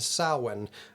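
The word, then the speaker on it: Samhain: So Halloween comes from an ancient Celtic celebration called sin, but that is spelled s a m h a i n.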